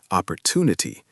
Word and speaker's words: opportunity: And word 4, opportunity. Stress is on 2. Opportunity.